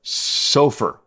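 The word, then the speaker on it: SOFR: commonly uses something that I don't know if anybody else pronounces it this way but sulfur we use the s o f r index to base our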